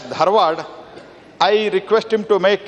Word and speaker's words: Dharwad: It is Britishers were used to pronounce it as Dharwar but now it has been officially named as Dharad.